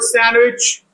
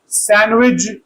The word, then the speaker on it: sandwich: Okay, note CH can be pronounced either J or Ch in spinach. You can say spinach or spinach, two possibilities. And it's pronounced J in sandwich in British English and Ch in American English. And the word sandwich, British sandwich, American sandwich.